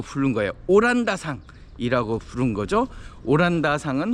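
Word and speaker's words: オランダ: 오란다상은 홀랜드를 일본식으로 발음을 해서 오란다상 그랬고요.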